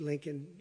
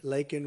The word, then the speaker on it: Laken: and Riley you know Laken very well now and after months of prodding him Biden couldn't pronounce her name said uh he said Lincoln Lincoln Riley and Lincoln Riley was